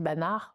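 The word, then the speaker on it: Banach: Oui, si on prononce à l'allemande, on dit banard, mais on peut dire banard.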